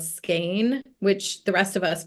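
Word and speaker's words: Skagen: together um up north in a place called skain which the rest of us pronounced skan but it's actually pronounced skain and and so they'll organize these trips to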